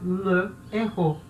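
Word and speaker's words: le héros: Só que errou é uma palavra com H aspirado. Então a gente não vai tirar a vogal do le, tá?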